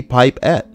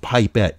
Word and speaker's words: pipette: only one in there how can it be pipe at if anything it would be pipe 10 or something you know what I mean English what you mean is pronounced pipette even this [ __